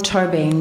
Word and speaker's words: Tóibín: I pronounce it Tóibín.